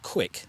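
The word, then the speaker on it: Quik: And there's a GoPro app called Quick, and that's spelled Q-U-I-K.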